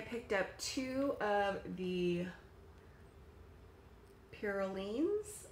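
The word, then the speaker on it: Piroulines: I picked up two of the Pirulines, I believe is how it's pronounced, and they have them in a few different flavors.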